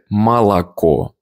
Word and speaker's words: молоко: and mягкий знак, or the annoying part where an unstressed o turns into an a. You read молоко, but you say молоко.